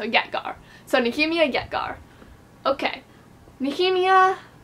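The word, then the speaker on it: Ytger: So Nehemia, and then Yetgar, like Garson, so Yetgar.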